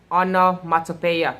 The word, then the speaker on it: onomatopoeia: what it means so anomaly are pronounced on pronounced as honor mata paya so it is the